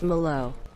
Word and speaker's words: Mallow: miss on the trap my name is pronounced mallow thank you I'm sorry Milo I pronounced your name wrong dude oh my god